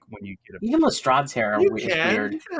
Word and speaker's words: Lestrade: Well, according to ChatGPT, Jesus, the pronunciation of that detective's name, the first syllable has an E like let, so it's le, and then it's a long A sound as in trade, so it's Lestrade.